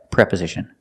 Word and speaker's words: preposition: for the first syllable the first vowel pre it's a short sound preposition not preposition but pre preposition and what are prepositions